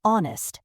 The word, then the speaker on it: honest: Words like no, walk, and honest have silent letters. Correct. No is pronounced no. Honest starts with an O sound.